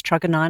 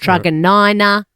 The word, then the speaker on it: Truganina: Do you know how I know it's Truganina? Oh, I think 'Cause you you go once there told so me. much. Because I went Because it into rhymes with something? That's how I got Yes. told to learn how to Are say we it.